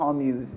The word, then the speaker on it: Hormuz: I think it's pronounced Hormuz.